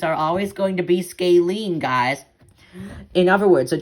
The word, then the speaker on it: scalene: it's known as a scalan triangle scalene scale scaling yes that's how you pronounce it triangles with no equal sides are